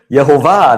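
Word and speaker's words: יהוה: So again, accent at the last uh last syllable.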